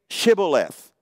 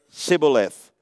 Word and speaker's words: Shibboleth: Then they would say to him, "Then say Shibboleth." And he would say Sibboleth, for he could not pronounce it right.